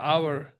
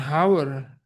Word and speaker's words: hour: Gitu ya bacanya ya, mudah-mudahan saya tidak salah ya, hour. Bukan hour, tapi hour.